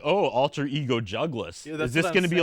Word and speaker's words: Jugless: so what did the jugas character like is there it's just my name but it Rhymes it rhymes with my real name that was it that's basically it jugas let's go boom put